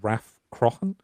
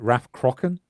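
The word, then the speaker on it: Rathcroghan: But he basically he pronounced it Raf Crocken I think. Uh but every other source I can find everywhere says Raf Kruahan.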